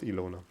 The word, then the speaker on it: Ilona: In German, this name is pronounced Ilona. I've never seen this in a non-German context, so I don't know what it's pronounced like in English. I'm gonna go with Ilona.